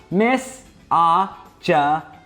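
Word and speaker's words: misogynistic: It's pronounced mis ajanistic.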